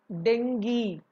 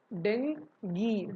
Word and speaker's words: dengue: How to pronounce berry? Berry. Berry. Berry. Berry. So the next word, dengue. Dengue.